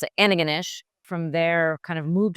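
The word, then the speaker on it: Antigonish: we pronounce it ananish.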